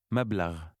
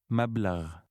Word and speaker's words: مبلغ: مبلغ. مبلغ. This word contains a new sound which resembles gargling.